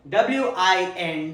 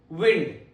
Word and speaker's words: wind: WIND. It has two different pronunciations and meanings. Let's check them out one by one. The first one, wind. Rhymes with pinned.